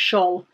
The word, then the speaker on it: Scholl: Are they Scholl or Skull? We've had this conversation before. Somebody told me the answer and I don't remember it yet again. I think it's pronounced Scholl.